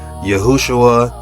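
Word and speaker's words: יְהוֹשֻׁעַ: And if you look at the Strong's Concordance, It says that name popped up 218 times And this is how it's pronounced Yahu-wsh-uwa, Look at the No.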